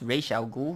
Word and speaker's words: Ra's al Ghul: I think it's pronounced Ra's al Ghul, yeah.